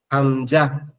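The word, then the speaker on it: همزة: ঠিক আছে এরপরে হচ্ছে হামজা হামজা হামজা হচ্ছে আমাদের এই গলার শুরু এখান থেকে হবে। এই যে এখান থেকে এখান থেকে হবে হামজা হা। এই দুইটা এক জায়গা থেকে উচ্চারণ হবে।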